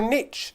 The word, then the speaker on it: niche: started this YouTube channel a niche or a niche depending on how you wish to pronounce it between the UK and America is the category that